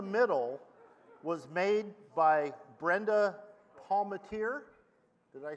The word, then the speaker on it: Palmatier: one in the middle was made by Brenda Palmatier. Did I say that right? Brenda. Where's Brenda? There you are. I asked you how to pronounce that earlier. How did I do? Palmater.